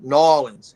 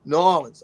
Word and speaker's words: New Orleans: He said, "New Orleans." I said, "Oh, New Orleans. I got you. Yeah, I got you. I got you." It's all one word. You're not supposed to pronounce all those letters.